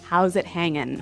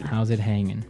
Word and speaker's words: how's it hanging: G right yeah but usually you don't really pronounce the G in this context cuz it's very informal so how's it hanging how's it hanging so he said everything